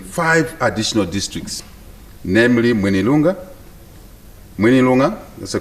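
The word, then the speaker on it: Mwinilunga: established offices in five additional districts namely moneylunga minilonga that's the correct pronunciation manilonga nakonde bala madam speaker zambia shall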